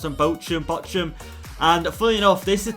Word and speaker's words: Bochum: simulate, which is against a newly promoted side, Bochum, I believe is how you pronounce them, Bochum.